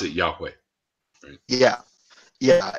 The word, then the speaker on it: Yahweh: or whatever which ya means you but they pronounce it Yahweh yeah yeah it's yeah I knew that but